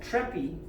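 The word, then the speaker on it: Treppe: This is a concept called Treppie. The E is pronounced.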